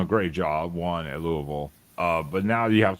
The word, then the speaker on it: Louisville: I think to pronounce it properly, you have to pretend there are no vowels. Louisville.